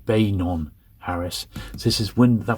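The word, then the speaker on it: Beynon: from John B B banon Harris I often pronounce it benan but it's B banon Harris this is wind that was windham's name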